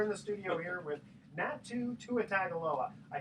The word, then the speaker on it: Natu Tuatagaloa: Hello, we are in the studio here with Natu Tuatagaloa.